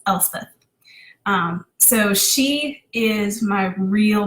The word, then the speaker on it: Elspeth: So in case you're wondering, it's Elspeth.